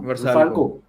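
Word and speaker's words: Vrsaljko: वर्साल्को को समझ ही नहीं आया क्या हुआ। अरे उसको प्रोनाउंस कैसे करते हैं? आई टिल नो मुझे पता ही नहीं कैसे प्रोनाउंस करते हैं। हाँ वर्साल्को।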